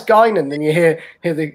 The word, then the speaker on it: Guinan: good i will admit when you first joined it's like gwinning gwinning oh it's gaining then you hear hear